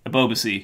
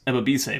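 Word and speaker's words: Ebobisse: then this guy is important ever be say a boba see that's how you say his name above Z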